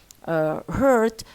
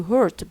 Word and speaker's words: hurt: and on, for example, in a word such as hurt, they say it with the sound oh. They say hurt because they depend on this.